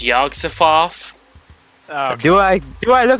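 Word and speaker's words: Yog-Sothoth: too not so smarty smart yeah actually it's yogg-safoth do I do I look like I can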